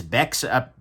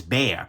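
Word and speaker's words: Bexar: the tactile knife company oh god it's beck's up no it's bear this is spelled b-e-x-a-r i'm sorry that's bexer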